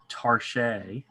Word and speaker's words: targe: Mallet says Mimi, and it's Tarche. Yes, that's how I've heard it pronounced. Tarche. Yes. What is Tarche? It's the French. It's like a saying target, but with a French accent.